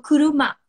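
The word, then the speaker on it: くるま: Mas, por exemplo, kuruma, que é carro. Então, kuruma, kuruma. Então, esse aqui pronuncia como ku, esse aqui como ru, esse aqui como ma.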